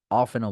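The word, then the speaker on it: often: কোনটা বলবো দুইটাই কারেক্ট আপনি অফটেন ও বলতে পারবেন অফেনও বলতে পারবেন বুঝতে পারছি ব্রিটিশরা বলবে অফেন আর আমেরিকান বলবে অফটেন সো দুইটাই কারেক্ট সো এটা যাদের অফটেন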